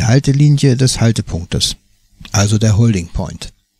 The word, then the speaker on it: holding: Dieses Lautzeichen spricht sich wie das deutsche NG, wie in Fangen. Holding.